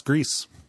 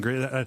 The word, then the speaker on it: Gris: but yeah that's that that's gree it's not the musical I keep on saying great how would I pronounce that to make it not sound like I'm talking about the musical grease you're right it's going